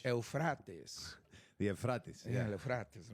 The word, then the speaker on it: Euphrates: Oh, yes, Euphrates. That's how they pronounce it in English. Euphrates.